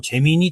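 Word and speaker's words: Gemini: 재미나이라고 뭐 재미니 또는 재미나이나이라고 읽는데 외국에서는 보통 이제 재미나이라고 더라고요.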